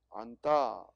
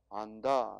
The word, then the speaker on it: 안다: 그래서 표기는 똑같은데 안다 할 때는 된소리가 발음되고 안다 할 때는 된소리가 발음되지 않습니다.